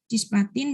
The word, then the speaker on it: cisplatin: Cisplatin mengikat pusat. Bacanya cisplatin ya. Kamu jangan salah bacanya ya.